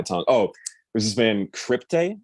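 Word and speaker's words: Cryptae: oh this has been crypte i think it's how you pronounce it it's like crypt c-r-y-p-t-a-e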